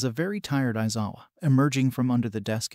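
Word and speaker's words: Aizawa: home room teacher shout isawa and yes that is how you say my name and whoever says otherwise is an idiot damn idiotic hero clown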